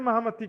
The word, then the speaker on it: महामती: और इसका शुद्ध उच्चारण होता है महमत।